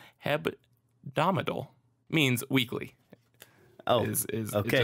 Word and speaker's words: hebdomadal: So Hebdomadal means, which I try desperately to throw in another syllable in there where it does not belong. Hebdomadal means weekly.